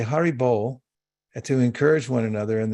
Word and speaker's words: haribol: bull means to to chant so they say haribol to encourage one another and they yell it